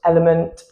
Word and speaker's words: LMNT: Pretty sure it's meant to be pronounced element.